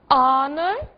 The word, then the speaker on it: honor: observadas porque justamente são casos em que o h está mas não é dito que palavras são essas our Honor e honest não disse o H em nenhuma delas certo What is